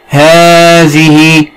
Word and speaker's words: هذه: هذه أيضا بها حرف ينطق ولا يكتب.